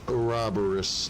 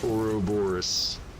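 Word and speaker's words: Ouroboros: or roboris yes it's it's pronounced or roboris not oroborus our aorus aorus it's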